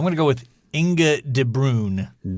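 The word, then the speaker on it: De Bruijn: B U R I J N. I think that J is silent.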